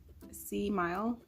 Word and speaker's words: Seemile: It's called Seemile, like smile, except it's spelled Seemile.